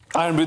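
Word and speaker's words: Irn-Bru: a story about something, and I hope I pronounce it right. It's called Iron Brew. Iron Brew, this is right, and please don't pigeonhole me.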